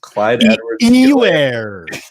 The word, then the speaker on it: Clyde Edwards-Helaire: How do they pronounce it on the broadcast? Clyde Edwards-Helaire.